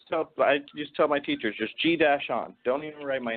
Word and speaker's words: Gian: G-Dash-on.